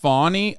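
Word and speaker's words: Fani: One is it's pronounced Fawny.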